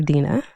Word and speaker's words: Dina: Dena. Sure. So, just so you know, my name is spelled Dina D N A. And so, I go by D N A DNA. Dina DNA.